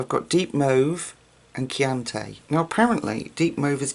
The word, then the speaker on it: Chianti: Chianti.